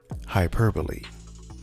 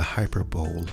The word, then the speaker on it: hyperbole: soup i'll have the hyper bowl of soup please nope the b-o-l-e is pronounced using two syllables no no you mean